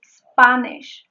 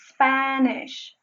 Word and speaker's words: Spanish: Another thing I would like to mention is that she said Spanish. It is Spanish. She's using another phoneme. It is Spanish. It is not Spanish. It's Spanish.